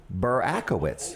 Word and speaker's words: Burakiewics: Help me pronounce the last name. Burakiewics. Burakiewics.